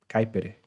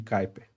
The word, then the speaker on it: Kuiper: Kuiper. O pessoal fala Kuiper, né? Kuiper. Tipo, fala rápido assim e plum.